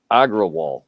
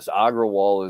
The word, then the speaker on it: Agrawal: I mean, it's that fucking Indian psychopath that now runs Twitter, Agrawal.